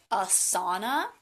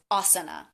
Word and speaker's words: asana: might be saying so the first word is asana and i often hear that mispronounced is asana but asana is a